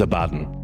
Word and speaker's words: Abaddon: It is Abaddon. It is Abaddon, yeah.